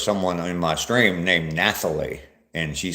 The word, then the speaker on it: Nathalie: Everybody pronounces it like I do my granddaughter Natalie. Okay. It's just spelled differently.